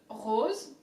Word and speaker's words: rose: can also mean the flower the hose so rose again has come from deep down like europe